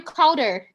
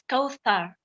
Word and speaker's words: Kaouther: stunning yeah and so should I call you cowder am I pronounce it correctly the real pronunciation is Kar oh you want okay Kar okay so Kar